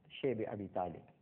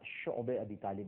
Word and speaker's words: شعب ابی طالب: اور اس کے بعد شیب ابی طالب، جس کو بعض حضرات شعب ابی طالب بھی کہتے ہیں، لیکن جس کا صحیح تلفظ ہے وہ شعب ابی طالب ہے، ایک گھاٹی تھی، آج